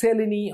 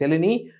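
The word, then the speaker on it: Mseleni: n i it's called m is silent pronounced it as Selen osteoarthritis Selen osteoarthritis hip is more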